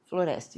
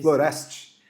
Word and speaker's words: Floreste: A professora Florest, essa é a pronúncia? Florest, isso. Florest.